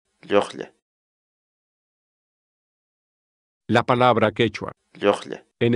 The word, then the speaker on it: lluqlla: de videos en la que te enseñamos a pronunciar algunas palabras en quechua. Así que nuestra palabra del día por hoy es... Llojle. Llojle. Llojle.